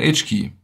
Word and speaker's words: HKey: Lo que ven aquí se llama HKey, o como se escribe, "HK".